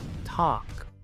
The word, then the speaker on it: talk: Muchos pronuncian esta palabra talk, pero aquí la L es muda. Talk.